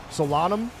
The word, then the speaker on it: Solanum: Solanum. Not Lanum.